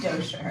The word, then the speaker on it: Dosher: Bonsi Dosher? Dosher. It's Dosher. Wait, I asked. we're gonna need a little that part out. I asked to make sure I was saying it correctly.